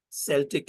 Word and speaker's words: Celtic: the word is Celtic Celtic is how most people pronounce it Celtic is the right way to say it and that's largely from